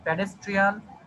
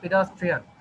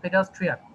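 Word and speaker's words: pedestrian: তারপরে আছে আমাদের এখানে, এটা হচ্ছে আমরা অনেকেই উচ্চারণ করি প্যাডেস্ট্রিয়ান। আবার বলছি, এটা আমরা অনেকে উচ্চারণ করি প্যাডেস্ট্রিয়ান, এটা একটু ভুল। এটা উচ্চারণ হচ্ছে আমাদের পেডাস্ট্রিয়ান। পেডাস্ট্রিয়ান, ঠিক আছে?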